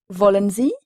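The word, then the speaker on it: wollen: allemand voulez-vous se dit Volen Volen c'est le verbe vouloir Volen exprime donc la volonté ça s'écrit W de l e n encore une fois le W allemand se prononce comme un V français voulez-vous Z S majuscule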